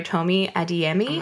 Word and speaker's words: Tomi Adeyemi: So I read Children of Blood and Bone by Tomi Adeyemi.